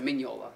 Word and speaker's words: Mignola: with me with mike mignola i did like him or sorry mignola is the proper pronunciation right um but the